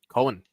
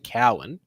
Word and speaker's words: Cohen: shout out uh Cohen Cohen there was a chat there was someone in the who is good friends with Lo's dad and it's not pronounced Cowan it's actually appar they still say